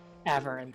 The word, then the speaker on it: Averin: Averin, thank you. Think like Whatever. avarice.